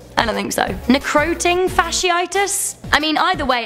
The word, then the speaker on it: necrotizing fasciitis: Also, for future reference, it's pronounced necrotizing fasciitis." I mean, Sarah, did I say that right? I don't think so. Necroting fasciitis?